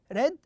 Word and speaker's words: read: here it is read the same spelling but we pronounce it as red red when you say i